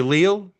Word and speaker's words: Leal: He's graduated, going to become a Leal estate agent. Uh, and that's one thing I really like about Anthony Leal's career choice is just that it rhymes with real estate.